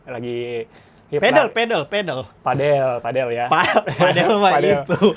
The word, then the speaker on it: padel: Oh padel bacanya. Iya. Bacanya Pak Del. Oh iya iya iya. Sama kayak apa? Mirip nama tetangga gua. Iya iya Pad Pak Del. Dia dari Spanyol.